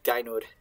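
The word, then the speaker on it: Gaynour: It's Gainur, but sometimes I just slip and say Guinevere when I'm talking about her because it's the same person.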